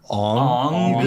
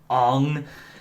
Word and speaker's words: Aang: Aang or Ong? You mean? Ong is oh being god, kept. the way they pronounce the names in that show. Which I don't get, once again, why they changed it, because they say Yeah. Aang in the English version of the series, but,